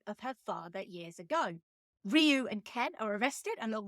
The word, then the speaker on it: Ryu: man as Ryu hosi AKA Ru in this movie a pronunciation that has stuck ever since but technically it is Ryu Grand L bush as